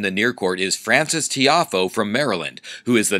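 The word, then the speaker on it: Tiafoe: Is that how it's pronounced? Tiafo?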